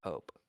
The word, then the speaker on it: POAP: Vitalik pronounces it Pope, by the way.